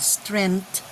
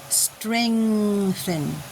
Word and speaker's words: strengthen: In the prayer of the faithful, this is not strength, it is strengthen.